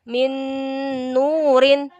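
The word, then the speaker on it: مِنْ نُورٍ: Bacanya yang betul adalah min nurin. Min nurin. Ini huruf ro ya. Anak termasuk agak susah dari huruf hijaiyah yang termasuk susah buat adalah huruf ro. Jadi maklum ya, ro-nya agak-agak bengkok-bengkok kayak gini. Jadi min nurin. Jadi di sini ada nun, di sini ada nun. Jadi kayak double nun gitu. Jadi bacanya melebur dan mendengung.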